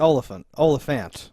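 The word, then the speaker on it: Olyphant: It's Oliphant. It's closer to elephant than not.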